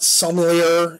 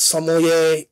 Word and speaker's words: sommelier: is a sommelier okay it's not somalia it's sommelier and saucy and it's